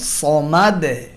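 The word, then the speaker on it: الصمد: শেষে দাল হরফে সাকিন করার সময় আহাদে, সমাদে, এই 2 জায়গাতেই দালে কলকলার আওয়াজ, প্রতিধ্বনির আওয়াজ দিয়ে উচ্চারণ করা হয়, এবং দাল হলো পাতলা আওয়াজে পড়ার হরফ, তাই কলকলার আওয়াজটাও পাতলা হয়।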